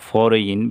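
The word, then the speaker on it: foreign: এইখানেও জি এনের পূর্বে আই আছে, তাহলে জি উচ্চারণ হবে না, ফরেইন, বিদেশ।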